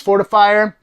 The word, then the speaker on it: Fortefyre: His name is Fortifyre, and that is spelled Fortefyre.